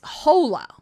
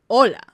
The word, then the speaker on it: hola: when she says hola she pronounces the H as an as a J in Spanish so she say she says hola instead of hola you know so terrible